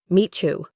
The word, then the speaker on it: meet you: Meet you becomes Mechu. Your turn. Mechu.